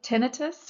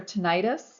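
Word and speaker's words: tinnitus: Um one of the disorders of the inner ear is something called ten tinitus or tenitis depending on how you say it.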